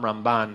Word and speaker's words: Ramban: you have the Rambam Rambam, Ramban, they're very similar. So he would say that the way to distinguish it is that which syllable you stress. It's the Rambam and the Ramban.